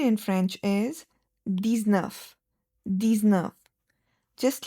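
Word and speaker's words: dix-neuf: These nerve just like the set and the width the nerve is also 10 and 9 which is 19 which makes these nerve.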